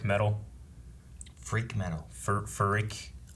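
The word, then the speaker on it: phrik: made out of like freak metal freak metal for rick p h i r k the p is silent dank ferric dank fair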